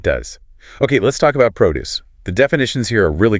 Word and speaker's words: produce: and vegetables, agricultural goods, stresses on pro. I buy fresh produce at the farmers market. But the verb produce means to create or manufacture something. Stress is on DCE.